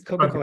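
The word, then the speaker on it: Cockacoeske: Also, and please correct me if I mispronounce this, but Kakakuska. I'm sorry, did I pronounce that correctly? It's pretty close. It's Coca-Cola.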